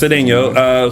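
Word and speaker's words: Cedeño: yes, and speaking of ex-cast members who were appearing on shows, Matt Cedeno, did I pronounce that right? Matt Cedeno. Yes, Cedeno, who played Brandon Walker, just landed a role on the originals, which returns to the CW on January 29th.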